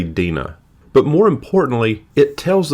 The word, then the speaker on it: Dinah: In the Hebrew, her name is pronounced Dee-nah’, some say Dinah, some say Dinah, I’m going to say it, Dinah.